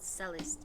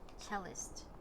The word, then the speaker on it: cellist: is now it is it's not celeste but cellist i'm sorry english is